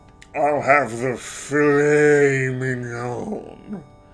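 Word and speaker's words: filet mignon: I'll have the the fillet mignon. That's pronounced fillet mignon.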